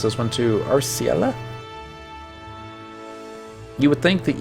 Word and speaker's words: Arciela: Arciela. Taking that as the canon pronunciation till SE tells me otherwise. Arciela.